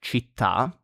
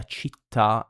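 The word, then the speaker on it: città: Then we have the written accent on the last vowel. Usually that is like chita, city, and cafe, coffee.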